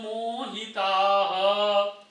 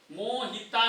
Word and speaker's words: मोहिताः: किम कर्म किमा कर्मेति, किम कर्मेति नहीं, किमा कर्मेति कवयोप्यत्र मोहिताः, मोहिता नहीं, मोहिताः।